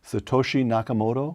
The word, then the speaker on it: Satoshi Nakamoto: who calls himself I'm not sure I can pronounce this Brian so correct me Satoshi Nakamoto that's right Satoshi is what everybody calls him